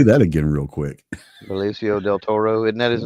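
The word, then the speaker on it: Benicio del Toro: over there yeah say that again real quick ficio Del Toro isn't that his name it is absolutely I'm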